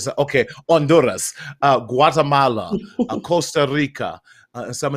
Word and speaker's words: Honduras: They said, "Party, the H is silent." Honduras. So, okay, Honduras, Guatemala, Costa Rica, and